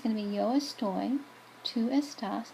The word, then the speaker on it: estoy: So the yo form, instead of being esto, it's actually estoy. Okay, so see, here is where it's different. So instead of saying yo esto, I can't even say it like that. It's yo estoy. That's how you say I am. That's the yo form. It's not just an O ending, it's an OY ending.